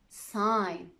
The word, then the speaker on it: sign: It's usually silent if GN is at the end of a word like this. Campaign, design, foreign, sign.